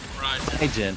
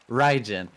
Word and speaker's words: Raijin: Raijin. Like rye bread and gin. Okay, Raijin.